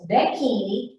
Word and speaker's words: becchini: Undertakers are becchini, and it sounds like bikini, but it's becchini.